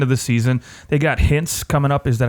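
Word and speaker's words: Hintz: at the end of the season they got hints coming up is that how you pronounce his name I yes okay good I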